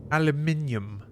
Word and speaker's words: aluminium: now back down here aluminium well that's the more british pronunciation right so of course it's wrong of course it is in correct okay how about a